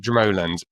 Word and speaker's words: Dromoland: We might say Dromoland, but the Irish pronounce it Dromoland.